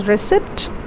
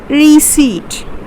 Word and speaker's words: receipt: it's known as receipt you don't call it as recept or you don't say it recept you say reseat okay the next one